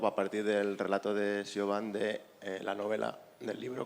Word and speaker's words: Siobhan: The story behind the book, it's pronounced Siobhan, it's an Irish name.